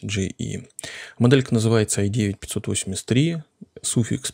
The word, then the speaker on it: JEYI: nvme накопителей от фирмы Ну правильно произносить это gii Но я буду называть GE моделька называется i9 583